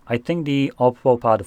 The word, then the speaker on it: Oppo: And just to clarify, I'm saying Oppo as in OPPO. For some reason, a lot of people think I'm saying Apple when I'm pronouncing that.